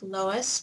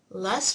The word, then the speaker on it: loess: of evidence is called les deposits so it looks like Louis but it's really less which rhymes with busts les deposits are composed